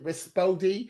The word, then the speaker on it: Rispodi: They pronounce like R-I-S dash P-S-P-O, Rispo, and then D-E-E, Rispodi.